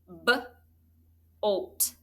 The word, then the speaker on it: bolt: That's a closed syllable exception with the macron over the O.